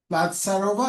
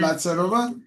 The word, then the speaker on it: Platsarova: I now quickly invite our final speaker, Platsarova. Are we pronouncing your surname correctly? Yes. Forgive us. Yeah, Yes. Platsarova.